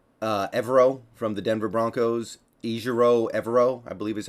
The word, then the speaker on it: Ejiro Evero: Ejiro Evero, I believe is how you pronounce it.